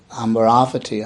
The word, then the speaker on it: Amaravati: Those of you know Amaravati, the monastery in Hertfordshire, called Amaravati, actually, I think is its correct pronunciation, is the deathless realm.